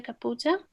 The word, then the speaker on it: Kapuza: Kapuza?